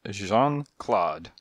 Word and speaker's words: Jean-Claude: "My name is Jean-Claude." He pronounced the thing Jean, but he Englished the Claude.